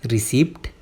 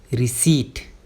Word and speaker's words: receipt: रिसिप्ट? ना ना ना, इसकी एक्चुअल प्रोनाउंसिएशन होगी रिसीट। रिसीट। यहाँ पे पी साइलेंट होता है।